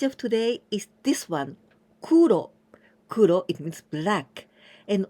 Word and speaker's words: 黒: so this means black the way to pronounce this kanji Kuro and also koku adding this candidin person